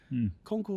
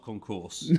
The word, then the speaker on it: concours: cards ever in America concour or Concourse concour concour concour oh concors and Concor you like to go Posh with a bit of French accent do you yeah us be careful how to spell it it's not a walkway that's the key fact yeah not Concourse no definitely not there's been a few